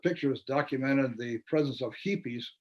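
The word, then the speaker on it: jipis: A feature story with pictures documented the presence of hippies right here in the capital city of the state of Chihuahua. I smiled at the phonetic Spanish spelling for hippies. It's spelled J-I-P-I-S, hippies, J-I-P-I-S in Spanish.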